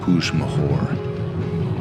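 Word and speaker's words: Puig Major: Pig majour. Pig mahor. Not sure how you pronounce it. It's pronounced puj mahor.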